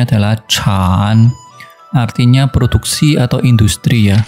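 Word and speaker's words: 产: Contoh lain kalau misalnya kita tambahkan bentuk seperti ini, bacanya adalah Chan, artinya produksi atau industri ya.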